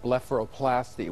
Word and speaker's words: blepharoplasty: lift is actually called blepharoplasty which is actually a five-syllable word is that essentially a